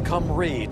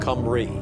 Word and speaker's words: Cymru: What country is known as Cymru to those who speak its native tongue? Romania, Scotland, Albania, Wales. You say that again. What country is known as Cymru to those who speak its native tongue? Cymru.